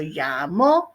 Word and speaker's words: llamó: So llamó and envió. Accent on the O's, accents on yo and el, yo and el, yo and el.